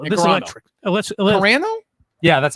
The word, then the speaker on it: Carano: Let's Carano? Yeah, that's how you say it. Do you mind I say Carano?